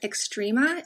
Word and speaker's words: Xtrema: I have one cast iron pan that's like I use the most, but I also love Extrema. It's spelled capital X-T-R-E-M-A.